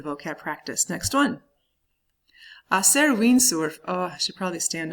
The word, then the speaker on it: windsurf: So basically, to do windsurf is what you're talking about when you say that. So hacer windsurf. Windsurf. Listen to the way that the I and the U are both pronounced in that.